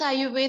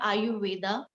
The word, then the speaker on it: Ayurveda: If you divide this Ayurveda into the two parts, long life and knowledge. So write it down and then explain. So Ayu plus Ved. The pronunciation is not Ayurveda, it's Ayurved.